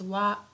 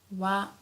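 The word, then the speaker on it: は: So although here this is hiragana ha but sometimes we pronounce it as wa wa.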